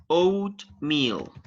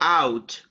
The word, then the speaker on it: oatmeal: pronunciation oh yes okay oat meal oatmeal oat no out oat oatmeal okay thank you it's